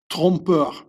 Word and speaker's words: trompeur: So officially in the Bible they talk about le grand trompeur. See the O, Trump, it's pronounced almost the same as the American, the U.